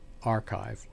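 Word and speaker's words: arXiv: the academic journals is the archive as it's called archive is spelled uh little a little r capital x little I Little V that's the archive where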